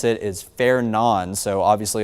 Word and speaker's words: Fernand: I've been doing some digging and watching other meteorologists and National Weather Service employees pronounce it is Fair Nan. So obviously it looks like Fernand the D is silent.